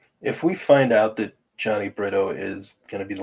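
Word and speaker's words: Jhony: it Johnny Britto Johnny I'm pretty sure it's Johnny Johnny it's just it's spelled j-h-o-n-y so I call him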